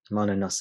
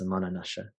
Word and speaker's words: Manonasa: Manonasa, Manonasha, different pronunciations.